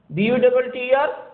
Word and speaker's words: butter: This T will be pronounced as the water. BUTTER, butter.